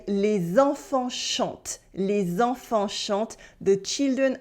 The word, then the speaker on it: chantent: But then the whole ENT part at the end of the verb, as you might have noticed, is silent. We say les enfants chantent, not les enfants chantants. Les enfants chantent, for the children are singing.